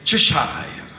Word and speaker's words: Cheshire: di una zona dell'Inghilterra che è il Cheshire, così si dovrebbe pronunciare. Gatto del Cheshire, gatto del Cheshire, gli appare su un albero.